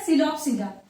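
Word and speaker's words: Psilopsida: एंड ये पी, यहाँ पे पी साइलेंट होगा, ये आप बोलोगे क्या, सिलोप्सिडा।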